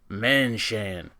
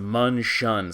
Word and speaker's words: Men Shen: Every Davon apologist and slack jaw toan yolk is going to call this thing the manshan, but it's pronounced munchun.